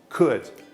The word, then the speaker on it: could: Quem gostar de pronúncia, você não pronuncia o O nem o L. Você fala simplesmente could.